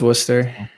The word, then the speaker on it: Worcester: The only one that we really need to talk about is Worcester. It's Worcester. It's Worcester and Leominster, Leominster, Gloucester, Situate.